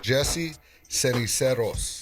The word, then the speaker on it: Jesse Ceniceros: The correct pronunciation is Jesse Ceniceros.